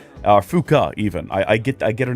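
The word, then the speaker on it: Fuuka: with Yukuri, or we can hang out with Fuku. Fuka, even. I get her name wrong constantly.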